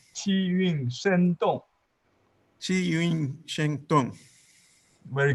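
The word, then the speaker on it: 气韵生动: So the say it one more time so I can learn how to pronounce it. Qi Yun Sheng Tung. Qi Yun Shen Dong.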